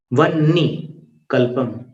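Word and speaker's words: वह्निकल्पम्: अब यहाँ पर कल्पांत काल पवनोद्धत वन्नी कल्पम। वन्नी, नी का उच्चारण बाद में आएगा, ह का पहले होगा। जैसे 19वें काव्य में आता है किंशर्वरीषु शशिनान्नी, नी बाद में बोला जाता है।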